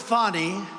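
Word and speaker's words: Fani: He worked with Fonnie even though it's spelled Fanny. F A N I.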